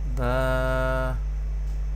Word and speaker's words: ب: Alif, Alif, Ba, Ba. Ba will be pronounced from the lips.